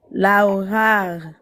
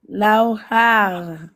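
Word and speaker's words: لوحة: Lauhar. Non, tu fais r à la fin, c'est pas r. Laou, ha. Lauhar. Ne fais pas le r.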